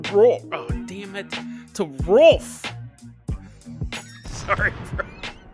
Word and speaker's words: Rolf: To Rolf. Sorry, bro. R-O-L-F. So it's like wolf, but with an R in front of it.